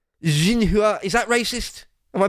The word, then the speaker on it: Xinhua: Xinhua. I think X is pronounced like a Z. Or it's more like a Z sound. Xinhua.